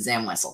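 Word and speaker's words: Zam Wesell: Literally every other guest I've had on this show has also pronounced it Zam Wessel, because that is indeed the correct pronunciation.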